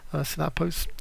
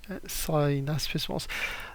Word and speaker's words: synaspismos: However, the Macedonians did have a third formation, Synapos, can't even pronounce it, the smaller one, and basically this formation, how is it pronounced? Synaspismos.